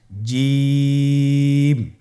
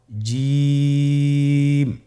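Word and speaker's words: ج: আপনারা আমার সাথে করুন জিম মাশআাল্লাহ আবার বলুন জিম আপনারা চেষ্টা করুন হয়ে যাবে এর মাখরাজ হলো জিহ্বার মধ্যখান তার বরাবর উপরের তালুর সঙ্গে লাগিয়ে উচ্চারিত হয় আপনারা পিকচারে ছবিতে দেখতে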